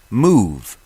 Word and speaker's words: Muv: each of my shows, Move. Move is spelled M-U-V.